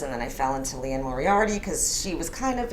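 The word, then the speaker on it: Liane Moriarty: And I kind of fell into the whole of Leanne Moriarty. Am I pronouncing that right? Yeah. That's how you say it, Leanne yeah.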